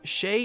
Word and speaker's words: Shez: pronunciation for you see in japanese shay is how japan phonetically writes the french word the difference though is